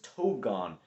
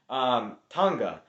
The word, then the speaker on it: Tonga: At number 250, I have the Bears selected Chris Togon. Tonga. That's how you say his name.